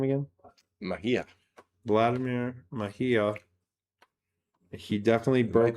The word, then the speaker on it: Mejia: Mejia.